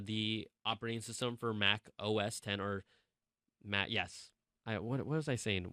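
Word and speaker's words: OS X: operating system for Mac OS 10 or Mac yes I what what was I saying why was I why was I brain farting oh it's not Mac OS 10 it's OS 10 I knew I was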